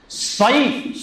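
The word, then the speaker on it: صيف: আরবিতে সাইফ, সদ দিয়া, যেটা সদ ইয়া সা, সাইফ অর্থ হচ্ছে গরমকাল, আর সিন দিয়া যেটা সিন ইয়া ফা, এই সাইফ অর্থ হচ্ছে তলোয়ার।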